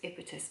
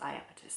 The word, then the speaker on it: Iapetus: her Titans um Yarns iapetus I think I don't think it's impetus I'll show you how it's spelled i a p e t u s iapis that's how I say it so this is